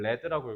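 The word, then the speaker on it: lead: 나왔죠 얘다 이거 참고로 리라고 읽으면 안 돼 이걸 레드라고 읽어야 돼요 이거 레드는 명사로 나비라 뜻이에요 알겠죠 발음을 혹시 모르니까 써 드릴게요 레드예요 레드 명사입니다 그래서 마치 어 과학자들의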